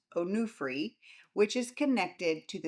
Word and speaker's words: Onufri: One is the Onufri Museum, pronounced Onufri, which is connected to the 16th century icon painter Onufri.